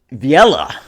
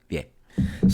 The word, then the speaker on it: Vieille: Vieille is obviously a French word. It's like American would probably pronounce it Viella. Viella. Rah. It's Vieille. Literally Google Translate. Vieille.